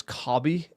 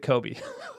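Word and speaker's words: Kobbie: Everyone everyone comes at us for this one, but it's like everyone thinks it's KBI and it's like he says it Kobe. Like he pronounces his own name that way.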